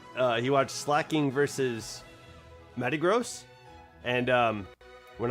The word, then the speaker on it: Slaking: Um and I like it, but I I've always said slacking because, you know, that's probably what it's called. You know, probably how it how it's said. But I've been hearing uh Pimp Knight call it slaking.